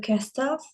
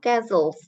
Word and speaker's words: castles: There are 2 castles. 2 castles. Jadi T-nya itu hilang. Castles.